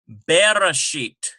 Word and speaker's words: Bereshit: syllable within a word the first vowel sound in the Hebrew Bible is a vocal Shiva so here's a very a very familiar word we should know this Bereshit and notice the slight